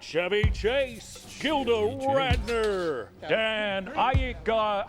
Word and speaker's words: Aykroyd: Chevy Chase, Gilda Radner, Dan Aykroyd. How the fuck do you pronounce this? Aykroyd.